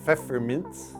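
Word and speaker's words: Pfefferminz: you got was peppermint this is how you say peppermint in german peppermints it's where we get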